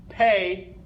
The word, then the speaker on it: P: you work for pay the letter P in English pronounced pay in German okay so there's our